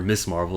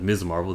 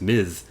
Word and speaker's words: Ms. Marvel: one gets it right they call her miss marvel instead of ms marvel there's a clear difference one is this is